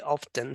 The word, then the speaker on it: often: actually this is silent T is silent often yeah it is